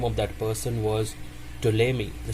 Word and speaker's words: Ptolemy: The name of that person was Ptolemy. The spelling is Ptolemy, but it is pronounced as Ptolemy.